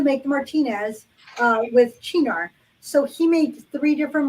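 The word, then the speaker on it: Cynar: Italian liqueur uh which um it looks like cyanar but it is pronounced chinar and the reason this one came into play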